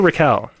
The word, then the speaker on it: Rachel: Is it Rachel or Raquel? I'm pretty sure it's Rachel.